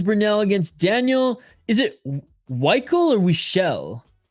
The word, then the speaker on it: Weichel: It's pronounced Weichel. He's Daniel Weichel.